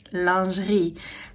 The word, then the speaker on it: lingerie: And so the thing is the word lingerie comes from French which is pronounced lingerie.